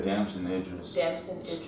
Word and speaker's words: Damson Idris: So I saw a clip of Damson Idris. Is that how you say it? Yeah, Damson Idris.